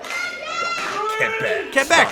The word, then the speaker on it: Quebec: Quebec, that's how you say it.